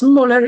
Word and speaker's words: Möller: It's pronounced. And your surname is it Mhler? Yes, it's Mhler is fine.